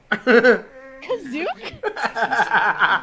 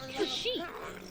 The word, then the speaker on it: Kashyyyk: Kazook? planet, no ships will be permitted to land or take off until further notice. That's right. Welcome to Kazook. That's Kashyyyk.